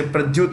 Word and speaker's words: Prayuth: but prime minister is prayuth c-h-a-n hyphen or hyphen cha you can say pradeuth also both are fine indonesia jokovido maldives ibrahim